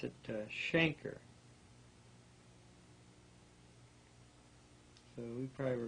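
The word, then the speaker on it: chancre: Well, they they pronounce it shanker, so we probably were mispronouncing it, too. I've always pronounced it cananker. Mhm. That's supposed to be pronounced shanker.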